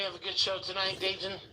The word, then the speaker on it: Dayton: Hope we have a good show tonight, Dayton. And see, he pronounces the T.